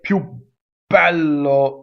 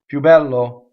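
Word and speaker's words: più bello: okay good going on pew is a strong mono syllable and it makes it BB but remember double B's are dangerous so if you say pew Paulo it's vulgar right pew bad law that's better right pew Belo not so good even worse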